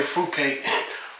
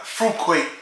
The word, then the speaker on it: Fruit Quake: is Mountain Dew Fuquay I used to say fruitcake but I say food court you know like fruit Quake so I gotta say it right instead of